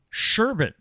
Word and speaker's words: sherbet: Sherbet has no R at the end.